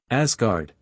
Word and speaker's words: Asgard: great Earth itself vocabulary Asgard s like Z abod of the Gods